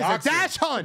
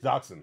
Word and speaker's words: dachshund: what about a wiener dog yes it is a dash hunt dachshund oh wait what how do you pronounce it dachshund I said a dash hunt what's up oh